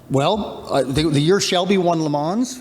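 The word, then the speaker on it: Le Mans: the Year Shelby won lemons right snake that's how you pronounce it as lamons in in 59 uh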